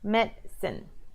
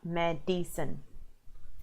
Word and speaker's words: medicine: no you know no remember it's only go two syllables Metzen two parts medicine so you want to practice saying medicine not Mad Decent okay so a sentence